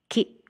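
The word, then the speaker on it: キ: Katakana ki, pronounce as ki, ki, ki.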